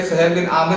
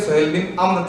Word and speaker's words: सुहेल बिन अम्र: सुहेल बिन अम्र, जिसमें मुझे पता लगा कि भाई सुहेल बिन आमिर नहीं थे, सुहेल बिन अम्र थे। ये प्रोनाउंसिएशन भी मेरी ठीक हुई है इस बारे में।